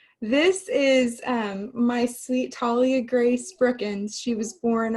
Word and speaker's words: Talia: pronounced it wrong earlier i said very southern like i said uh talia yeah talia like a tall tree antalya um is a